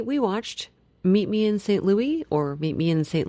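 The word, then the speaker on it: St. Louis: uh today today we watched Meet Me In St Louis or Meet Me In St Louis however you prefer to pronounce it Judy corrects that man in the movie that it is lwis yes so but not in the song So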